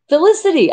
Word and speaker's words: Felicity: don't take any offense so it's fi lee city felicity i thought i said